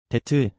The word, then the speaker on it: debt: 데트, 발음할 때 입술이 안 닿아요.